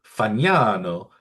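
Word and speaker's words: Fagnano: And that is Joe Fano. F A G Nan O pronounced Fano in the Italian way unlike Jack Kaggleon.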